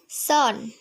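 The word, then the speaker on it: son: সন। আচ্ছা, ঠিক আছে, আমরা এটা সন বলি। সন মানে হচ্ছে পুত্র সন্তান। আচ্ছা, এটা আমরা আজকে সঠিকভাবে উচ্চারণ করব। সঠিক উচ্চারণটা হচ্ছে সান।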